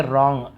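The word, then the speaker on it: wrong: तुम गलत हो, यू आर रॉन्ग, रॉन्ग W silent होता है, केवल ऐसे रॉन्ग ऐसे पढ़ते हैं, लेकिन लिखते समय हमें डब्लू लिखना जरूरी है।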